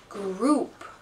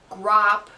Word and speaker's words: group: and you look and the pronunciation is group so that's how do you say it what's the sound group not grop not grope group that's the pronunciation pronunciation of the word group okay e copy the